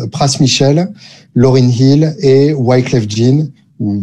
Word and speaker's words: Wyclef Jean: Michel, Lauryn Hill et Wyclef Jean, ou Wyclef Jean. À partir du moment où c'est un nom français, on a le droit de le prononcer comme ça, même si ça fait hyper bizarre.